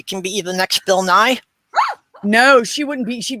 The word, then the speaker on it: Nye: bill nye's two was bill nye is dry that's why nye is dry you know it rhymes yeah um but i